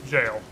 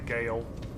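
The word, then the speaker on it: gaol: It's like Old English jail. It's pronounced jail. It's just funny to say Gale because that's what it looks like.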